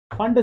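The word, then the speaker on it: Pfund: इसको बोलते हैं फंड सीरीज। क्या बोलते हैं? फंड series. पर पी साइलेंट होता है।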